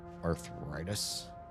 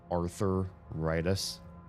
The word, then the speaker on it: arthritis: Do you have arthritis? Have you ever heard anybody pronounce it arthuritis like it's somebody's name?